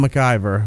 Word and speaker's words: McIver: this season bushmaster Jon McIver who was this Jamaican junk gamer yes but it's spelled McIver like MacGyver and he's a Jamaican